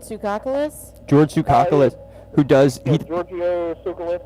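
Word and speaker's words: Giorgio Tsoukalos: George sukus who does Georgio sucus I believe is the pronunciation one of the the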